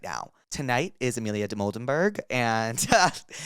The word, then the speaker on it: Dimoldenberg: Today we have the legend Amelia Demoldenberg.